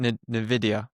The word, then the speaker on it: Nvidia: I don't know if you've seen the funding, but is it Nvidia? Is that how you pronounce it?